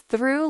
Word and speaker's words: through: Chat GPT explained, "Think of it as through like you threw a ball.